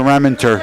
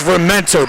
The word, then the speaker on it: Rementer: your over under was buddy just mispronounced his first name of the season it's rementer buddy romantic he's always he's